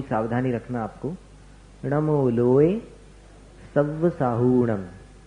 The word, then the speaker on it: सव्वसाहूणम: साहूणम में ह में जो ऊ है, हु, उसको दीर्घ बोलना, उसको शॉर्ट में नहीं बोलना, जल्दी नहीं बोलना। नमो लोए सव्वसाहूणम, ये इसका शुद्ध उच्चारण।